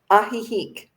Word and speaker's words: Ajijic: Is it Ajijic? Ajijic. Ajijic. AJ. Ajijic. No wonder I can't pronounce it.